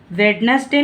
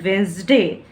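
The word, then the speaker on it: Wednesday: सा को जा पढ़ने हैं इसलिए क्या पढ़ेंगे वेडनेसडे नहीं पढ़ने हैं वेडनेसडे क्या पढ़ेंगे वेस्ट दे सही प्रनंसीएशन क्या है रूल नाइन कहता है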